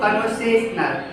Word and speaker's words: conversational: Note that there are 2 accent marks, one on con or another on say. Note also that con is in lower case letters, say in capitals. Both syllables are stressed, but the one in capital say sounds stronger or louder than the one in lower case con.